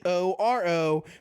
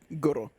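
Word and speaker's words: Gorō: I don't know how to say his name because it's Goro, but it has a little accent mark over it. It's just Goro.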